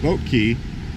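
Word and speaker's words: Boat Quay: that way a little bit you'll go towards boat key it looks like clay q at UA but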